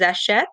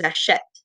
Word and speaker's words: achètent: But if you say it properly, the ENT is silent, which is why we need the accent grave. Ils, elles achètent.